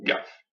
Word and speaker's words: Gaffe: Ga et F avec le E muet. Donc Gaffe.